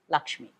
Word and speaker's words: Lakshmi: one of which is Laxmii. The pronunciation also about the film is wrong, spelling error maybe. The right to have a proper noun spelled the way they want, and so we have Lakshmi.